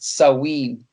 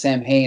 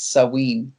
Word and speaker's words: Samhain: that it's not pronounced samhain it's sawween oh yeah because apparently the mh makes a w sound in gaelic so i think you